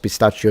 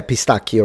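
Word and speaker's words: pistacchio: automatically think of pistachio which is not pronounced pistachio and you will be blocked if you say pistachio. Uh so yeah pistakio right because Sicilian pistachio is very famous.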